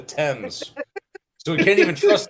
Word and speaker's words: Thames: It's spelled Thames, but they call it the Thames.